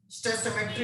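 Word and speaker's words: stoichiometry: लिए बहुत इंपॉर्टेंट है स्टोइचियोमेट्री of chemical reaction. Sir इसके बाद टी है उधर। हाँ बेटा, स्टोइचियोमेट्री, इसको ऐसे पढ़ना स्टोइचियोमेट्री।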